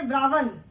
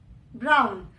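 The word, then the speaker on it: brown: अभी यहाँ पे W का साउंड इज व, बट व साइलेंट है. वी डू नॉट से ब्रावन, वी से ब्राउन. ब्राउन. तो बीच से व का साउंड इज मिसिंग. व इज साइलेंट.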